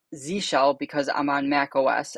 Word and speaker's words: zsh: It's Z shell because I'm on Mac OS, and Z shell is just the default now instead of Bash on modern Macs.